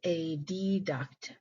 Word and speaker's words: adduct: these terms in school we pronounce them AB duct and a duct which I still do in my head to this day to keep them separated in my mind the term phasia here